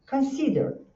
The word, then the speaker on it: consider: A mesma situação, é então é consider. Tem três sílabas, então você faz consider. Esse chuazinho com uma perninha é o som então, consider, tá?